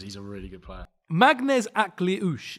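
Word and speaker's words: Maghnes: Magnes is how it's pronounced. I'm pretty sure Magnes Aklush.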